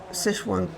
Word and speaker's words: Sichuan: So is Sichuan the correct pronunciation?